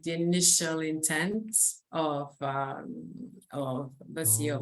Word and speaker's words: Waceo: So maybe let's now move on to Waceo. Is that do I pronounce that correct? Yeah, Waceo.